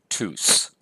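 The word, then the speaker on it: τούς: the rough breathing mark the accusative plural is tus so we're going to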